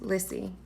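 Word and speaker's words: Liccy: was felicity Crossland Felicity Lissy pronounced Lissy was divorced Lizzie and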